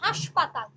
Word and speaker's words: হাসপাতাল: করার একটা স্পর্শ থাকে যেমন হাসপাতাল আমরা উচ্চারণ করি হাসপাতাল শব্দটা কিন্তু হাসপাতাল কিন্তু আমরা উচ্চারণ করি অনুনাসিক করে হাসপাতাল কিন্তু এই হাসপাতালের মধ্যে কিন্তু কোনরকম নাসিক্য মানে এই হাসপাতাল শব্দটার মধ্যে কোনরকম নাসিক্য ব্যঞ্জন নেই অর্থাৎ নাসিক্য ব্যঞ্জনের সাহায্য ছাড়াই উচ্চারিত হয় তাকে বলছি শতনাসিকী